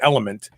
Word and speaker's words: LMNT: recalling saying their name it's phonetically it's element but it's lmnt labs take that with your